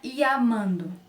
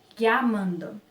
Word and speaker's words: llamando: Por exemplo, não é iamando, né? Iamando. É llamando. Llamando.